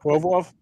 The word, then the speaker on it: Provorov: I can't get his name out, but Provorov, thank you.